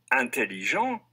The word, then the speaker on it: intelligent: is the feminine form the final consonant of the masculine form is silent but it's pronounced when you add the e to form the feminine listen again aunt additional